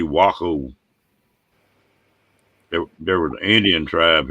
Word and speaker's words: Waco: way cool texas wacko is it wacko or waco sometimes it's wacom sometimes waco it's really wacko there was an indian